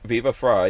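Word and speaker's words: Viva Frei: viva fra fry yeah fry like french fry viva fry yeah that was a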